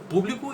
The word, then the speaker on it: público: Você percebe que no público a gente faz muito mais força na sílaba pu, né? E na segunda a gente faz mais força na palavra bli, público e publico, entendeu?